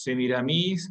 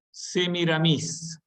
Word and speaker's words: Semiramis: leyenda de la literatura se pronuncian con acento en la última por influjo francés que mira mis porque es un personaje literario que ya habían sido asumido por la literatura francesa las novelas de antes